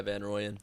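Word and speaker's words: Jacob van Rooyen: coming over to victoria jacob van royen is that how you pronounce it yeah van royen that's it dan ryan geez the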